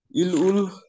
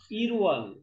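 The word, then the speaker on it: 일월: इल उल इल होइन इरवल, इरवल इल ओल की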